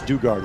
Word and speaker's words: Duggard: well replacing mercado now our field producer says do guard is how you say her okay apologies i don't